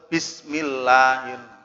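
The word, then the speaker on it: بِسْمِ اللَّهِ الرَّحْمَٰنِ الرَّحِيمِ: Bismillahirrahmanirrahim. Tapi juga ada yang tidak tahu cara bacanya atau bacanya tidak benar.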